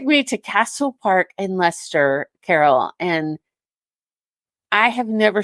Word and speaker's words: Leicester: Castle Park and in Leicester. I'm going to say it wrong. Leicester, thank you. See, I knew I was. It's when you look at it spelling, Shannon, it looks like Leicester, but it's Leicester, and I always get it.